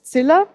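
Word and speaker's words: Ziller: in their own Architects as well and and Sila that's how he's pronounced um he was one of those people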